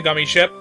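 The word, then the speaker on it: Gummi ship: gummy ship also yes it is pronounced the gummy ship i've been pronouncing a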